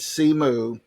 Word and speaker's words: Simu: um Sean Chi yeah the Marvel movie is pronounced simu it's s-i-m-u but C moo and his last name is Lee Jew see